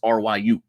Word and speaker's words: Ryu: of how you pronounce R Yu but I think it's Ryu R rayu I used to always say rayu when as a kid point